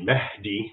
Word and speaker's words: Mahdi: So the Mahdi, as an English speaker would pronounce it, it's really Mahdi, which basically means guided.